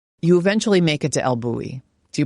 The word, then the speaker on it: El Bulli: You eventually make it to El Buoui. Do you pronounce it the same way? Elui.